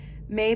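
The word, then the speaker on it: Mei: most significantly I created may may pronounced May means Beauty it is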